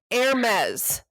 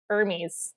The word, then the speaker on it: Hermès: Or I always thought it was Hermes. But I don't know. People are laughing at us right now. That's totally fine. I did not. I had to look it up. Hermès, and I had to write it down phonetically.